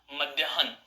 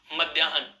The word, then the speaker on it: मध्याह्न: के अंदर न आएगा, मध्याह्न, मध्याह्न। अर्थात इसका उच्चारण न का उच्चारण है के पश्चात होगा। जैसे पे के नीचे रे जोड़ेंगे तो प्रे बोलेंगे, पे रे प्रे, ऐसे ही है न, मध्याह्न।